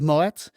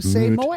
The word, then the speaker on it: Moët: And now, why is it not Moët? Moët. I always pronounce it wrong. Moët? You know, Exactly. until I learned it is correct. I don't know. Tell me. The guy, apparently Mr. Moët, is not French. He is Dutch.